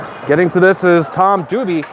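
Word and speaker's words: Dubie: And getting to this is Tom Duby. I had D-U-B-L-E, that's why there was confusion. D-U-B-I-E is actually how you say his name.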